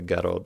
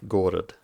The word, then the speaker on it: город: But one of the ones that I got wrong is Garod, city. I discovered it's not the Garod, it's Gorod. But I can't stop saying it the wrong way.